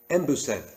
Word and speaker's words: embusen: And the word en, when it's said in this word, it's sometimes just pronounced as em.